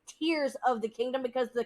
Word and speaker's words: Tears: has announced that it's it's pronounced tears not tares but they did say